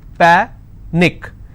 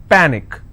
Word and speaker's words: panic: Panic is panic, which means I will stress on pa and it's pronounced as panic.